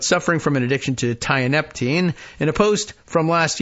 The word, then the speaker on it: tianeptine: It's pronounced tianeptine, but TIA for short.